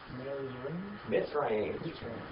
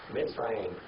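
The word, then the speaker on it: מצרים: Mitzrayim. Mitzrayim. Now, the Greek word for Egypt is Egyptos. We get our English word Egypt right out the Greek. But the Hebrew word for it is Mitzrayim.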